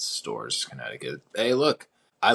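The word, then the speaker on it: Storrs: And then beat number 3 UConn in what I believe they pronounce it as Stores, Connecticut. Yeah, that is where UConn is. It's Stores, Connecticut.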